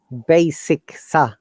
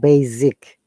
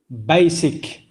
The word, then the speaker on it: basic: professor brahim this word it is not za sound it is so sound basic not basic basic very good okay let